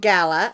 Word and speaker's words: Gala: It's called Gala or Gayla, however you want to pronounce it. I think of it as Gala like a party is a gala because it's it's all sparkly.